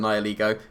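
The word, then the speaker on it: Nihilego: everything anyway i outspeed the nyligo it is pronounced now lego colin um and i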